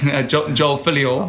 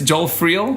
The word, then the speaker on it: Joel Friel: Joel Filio. Oh, sorry. Joel Filio. No, it's close. Sorry. It's close. Your pronunciation. It's Joel Friel.